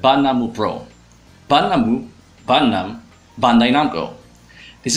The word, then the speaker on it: 876: another agency outside of 765 Pro 876 Pro is spelled banamu Pro banamu banam Baio this is the number